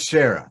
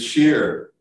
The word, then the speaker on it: Shearer: that long ago David Shearer that's how your last name's pronounced you nailed it it's sheer yeah yeah yes well enormous